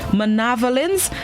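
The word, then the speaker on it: manavelins: at cables, gulls cawing as they swooped for manavolence of fish. The word of the day this morning is spelled M-A-N-A-V-E-L-I-N-S. It's pronounced manavolence, and it is a plural noun which means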